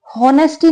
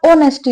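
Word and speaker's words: honesty: ध्यान रखना, हॉनेस्टी नहीं होता, ऑनेस्टी होता है, क्योंकि इसमें एच साइलेंट होता है।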